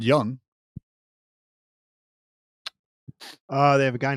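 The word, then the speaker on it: Jung: on a young lad out in Texas a young man by the name of Young Money AKA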